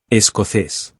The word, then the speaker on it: escocés: am, Soy and then escocés. if male or Escocesa. if female. Escocés has an accent, so the stress is placed where the accent is, on the last syllable.